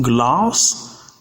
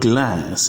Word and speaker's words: glass: The same goes with the word GLASS, which is pronounced glass in British English, but glass in American English.